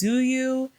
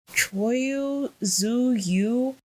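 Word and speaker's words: Tzuyu: The one I don't know if I'm pronouncing her name right, but it's Zuyu. I think her name is pronounced Choyu Zuyu.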